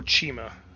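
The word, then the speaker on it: Cima: Oh, it's Seema. Seema Garahau. That's her name. Name spelled C-I-M-A. Or Chima, depending on how you want to pronounce it.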